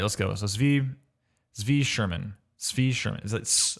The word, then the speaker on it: Tzvi: a clip at some point for how to pronounce my name. I could just do like exclamation point Tzvi, and it would. Tzvi. Okay, got it. We'll get there eventually. Sorry, man. Tzvi.